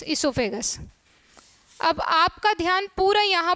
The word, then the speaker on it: oesophagus: यहाँ इसोफेगस की स्पेलिंग दो तरह से स्टार्ट होती है, यहाँ भी ओ साइलेंट रहता है तो OESOPHAGUS इसोफेगस।